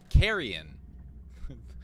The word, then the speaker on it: Carrion: hello everybody this is beetlej welcome back to carrion the proper way to pronounce it so we're gonna keep on moving